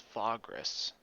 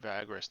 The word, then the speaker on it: Vagrus: called a vagrant of vagras okay so it's fogress wasn't sure pretty sure i've been pronouncing it vagras the whole time okay so that's just an